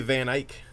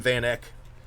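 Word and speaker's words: Van Eyk: was this case and cj van ike i called him vanek but i went and watched some of his videos so i knew how to say his name well what do you think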